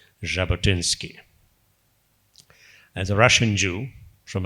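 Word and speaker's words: Jabotinsky: creating a Jewish homeand there then uh Vladimir jabotinski spelled with a J but pronounced as J jabotinski as a Russian Jew from adessa and he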